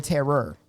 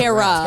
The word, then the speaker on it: Tiera: Terra or terror? No, How it's about that? Terra. Terra. Like Terra, T-A-R-A. yeah, but it's like Terra, but Gotcha. it's like Terra. terror. You got to say it like with a Terra.